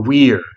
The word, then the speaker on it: vir: And literally, it comes from the Latin word vir, vir or weir, The V in classical Latin is pronounced like a W.